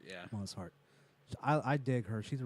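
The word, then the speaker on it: Mosshart: Because Alison Mozart is Moss Hart. I think that's how you say her name. Mossart, yeah. Moss Hart.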